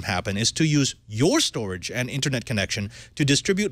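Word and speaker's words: Storj: about shared resources by using your hard drive storage which is spelled s-t-o-r-j is a startup that is looking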